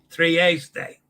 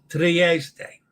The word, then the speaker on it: Trieste: Trieste. Sorry. Trieste.